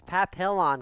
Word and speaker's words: Papillon: Pilon what is it but it's Papillon clearly like the dog I don't know for